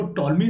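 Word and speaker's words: Ptolemy: अब देखो यहाँ पर आपकी इस जो कंटेंट है यहाँ पर क्या रखा है, कि जो टॉलमी थे, यहाँ पर पी साइलेंट रहता है, ठीक है ना, तो यहाँ पर हम टॉलमी की, यहाँ पर टॉलमी की बात कर रहे हैं।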